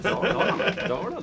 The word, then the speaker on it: Dalarna: Dalarna.